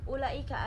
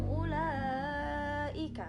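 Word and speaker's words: أولئك: Di situ dibacanya langsung aja, wawunya tidak dianggap ada, jadi langsung ulaika.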